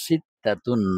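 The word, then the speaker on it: ستة: ছয় তো বাংলাতেই কিন্তু আরবিতে এটার উচ্চারণ হচ্ছে সিতাতুন।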